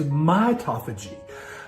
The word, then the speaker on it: mitophagy: life number five is mitophagy uh this rhymes with autophagy but this is this